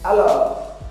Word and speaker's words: alors: Alors. Então, alors é então. Alors, não pronuncie o S.